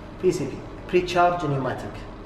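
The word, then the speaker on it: pneumatic: بي سي بي بري تشارج نيوماتيك، كلمه نيوماتيك وتبدا بحرف البي لكن تكون يعني لا تلفظ، معناتها اي شيء يعمل بضغط الهواء مع وجود صمامات.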